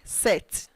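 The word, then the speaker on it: sept: current 6 47 current set remember don't pronounce p in set 48 current weight you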